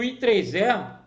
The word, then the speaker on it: IEEE: Existe uma organização, existem diversas organizações internacionais de padrões, e o I3E, que se escreve IEEE, mas lê-se I3E, que é o Instituto